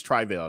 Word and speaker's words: Travell: i'm sorry and and i'm pronouncing his name wrong because point is where i started uh phonetically spelling it so i quit saying it wrong his name is trivial trivial anthony hill so he said it out his own mouth that is trivial not travail travail um he was